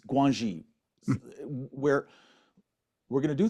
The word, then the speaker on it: Guanxi: And I always get the pronunciation wrong in China. It's Guanxi, where we're going to do things for each